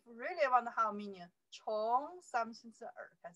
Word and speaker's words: 从: 从天, 从, only say 从, you see here, 从, C-O-N-G, the second tone, 从.